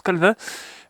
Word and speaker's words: Calvin: Pour les besoins de ma vidéo, je vais aller à la tête de Calvin, ouais je pense que vu que c'est francophone, ça se prononce Calvin.